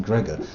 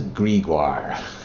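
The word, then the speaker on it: Greagoir: Why have they gone to all the effort of giving these elaborate spellings of names just to pronounce it Gregor? That says Gregoire.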